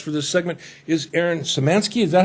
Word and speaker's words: Samansky: My guest for this segment is Aaron Samansky. Is that how you pronounce that, Aaron?